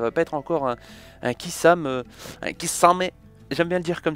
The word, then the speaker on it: Kisame: pas être encore un Kisame, j'aime bien le dire comme ça, il y en a qui disent Kisame, moi j'ai dit Kisame, Kisame, on prononce pas le E, tu vois.